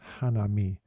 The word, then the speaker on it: hanami: the blossoms in Japanese it's hanami and it's from the two words Hana is the word for flower and me mass is the word to see or to look so Hana me is